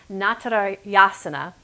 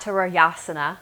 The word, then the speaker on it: Natarajasana: at dancer pose and in Sanskrit it's pronounced not at our jana not Terrell Jana I'll say without the flipped are there pose in Sanskrit